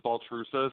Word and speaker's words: Baltrusis: I'm not a problem so it's ball it's ball truces but it's okay I've been it's been mispronouncing national TV so it's like I'm used